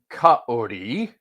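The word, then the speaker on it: כָּאֲרִי: Uh, so the passage itself in Psalm 22:16, the word in question um, is actually properly pronounced kaori, like a lion, is the is how the word appears in the Masoretic text.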